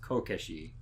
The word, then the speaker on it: kokeshi: But you can put those two kanji together and they grammatically are pronounced kokeshi. So child erasure would be pronounced as kokeshi as a word.